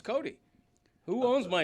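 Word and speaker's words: Cote: Your name actually is pronounced Cotay, but you say Cody. I know. So, it's Cody.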